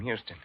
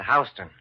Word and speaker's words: Houston: Except here in New York, you pronounce it Houston.